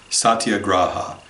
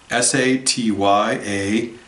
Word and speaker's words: Satyagraha: Satyagraha. I'll spell it for you, but it's also in the Slack channel. Satyagraha.